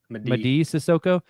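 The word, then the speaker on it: Mady Sissoko: Is it Maddie Sissoko? How do you pronounce Madi. that, Nick? What? Madi. Madi Sissoko.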